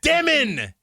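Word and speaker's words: Demin: It's like, "Mitch, it's not Dyelmon." I'M LIKE, "I HAD SOMEONE who served a mission in Russia said it's Dyelmon." And then Yegor's like, "How to pronounce my name? Dyemon." Anyway, THAT'S HIM POINT-BLANK. HE SAID it point-blank. Like, "How to pronounce your name? Dyemon."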